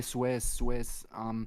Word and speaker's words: Suez: Swiss. Thank you. No, Suez.